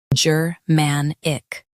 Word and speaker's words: Germanic: Stress man and keep ick light.